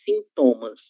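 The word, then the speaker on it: síntomas: Que a gente vai chamar de sintomas, né? Ustedes dizem sintomas e nós falamos sintomas. Existe aí só uma mudança na sílaba tônica dessa palavra, ok?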